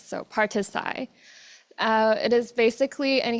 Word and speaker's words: Parti-Sci: name has changed but you may find it difficult to pronounce the party name because it is a short of participatory science. So partisai uh it is basically